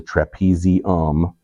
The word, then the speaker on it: trapezium: that's at the thumb this is the trapezium because it rhymes with thumb and we skip down